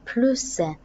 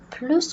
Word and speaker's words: plus: ces locutions contiennent plus elle restera deux semaines au plus je vais prononcer veut s pourquoi c'est la locution au plus pressé à la fin de la phrase rien de plus amusant coussin là normalement on prononce pas le s avec la loue qui